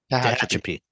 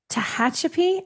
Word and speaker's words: Tehachapi: Tehachapi. Tehachapi.